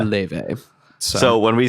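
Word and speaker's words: Laufey: I originally thought it was Lafy, but it's pronounced Le.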